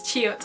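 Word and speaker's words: 치읓: character is this song which is chiut which is a ch sound and it's the same kind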